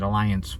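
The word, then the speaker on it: Allianz: today this morning from alliance i believe that's how they say it alliance with the z at the end our whole cruise i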